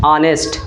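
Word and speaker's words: honest: ऑनेस्ट आ रहा है ऑनेस्ट ऑनेस्ट Hindi का आ रहा है पहला उच्चारण ऑनेस्ट आ रहा है हमको एच के हिसाब से नहीं लगाना हमको लगाना है हिंदी के उच्चारण से ठीक है तो हिंदी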